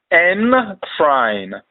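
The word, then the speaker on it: Nkran: Encrying, pronounced encrying.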